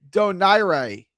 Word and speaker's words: Donaire: Uh, my favorite fact about Nonito is that Donaire is actually pronounced Donaira. Am I saying it right? I say Doner.